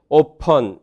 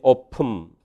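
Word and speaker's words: open: 그래서 리번이라고 하든지 리붐이라고 발음하든지 오펀 그렇게 발음하든지 오품 이렇게 발음되고요.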